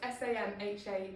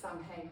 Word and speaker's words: Samhain: pagans celebrated New Year with a festival called Samhain. It's spelt S-A-M-H-A-I-N. A lot of people sort of think it's pronounced Samhain, but it's Samhain, just to be technical.